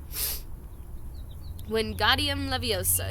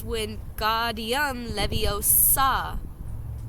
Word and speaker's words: Wingardium Leviosa: "Wingardium Leviosa," he shouted, waving his arms like a windmill. "You're saying it wrong," Harry heard Hermione snap. "It's Wingardium Leviosa," making the nice and long.